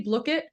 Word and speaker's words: Blooket: so you can play blit I should be saying bluk it I've been saying it wrong for a long time it is blit um and so I'm